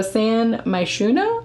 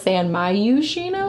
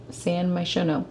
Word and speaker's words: San Myshuno: So San Myshuno, I assume is how you say it. So I just, in my brain thoughts, was just saying it wrong the whole time. I was closer than you were. I don't even remember what you said. But all I know is I thought it was San Myushino for some reason.